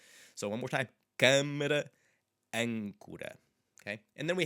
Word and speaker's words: câmara: N's related to them, so they are a bit more nasally than you would anticipate at first glance. So one more time. Câmara, âncora.